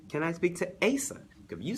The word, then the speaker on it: Asa: It's Asa, like how it's spelled. A-S-A, I promise, like it's Asa.